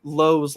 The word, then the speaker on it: Lowe: low or Josh laau I know they have two Low's LA on their team that are pronounce weird it makes it very annoying for things like Josh yeah Josh L Josh low not Brandon La gosh yeah so Josh